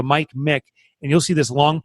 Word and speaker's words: Michalowicz: Hit the space bar and type in Mick, M-I-C. So Mike Mick, and you'll see this long Polish name drop down by the time you push Mick in, and that's me.